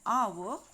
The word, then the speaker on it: hour: when we say an hour here h is silent and the sound that